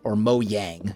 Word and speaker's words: Mojang: He also made a point that updates don't matter, that Microsoft, when they bought Mojang is the proper pronunciation, when they bought it, updates no longer really matter.